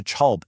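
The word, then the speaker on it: كلب: So, kalb, meaning dog, turns into chalb in everyday conversation.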